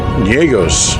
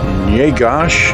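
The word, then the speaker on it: Njegoš: poet in serbia uh niegos is a yegosh actually i think now you got to pronounce that right yeah gosh and this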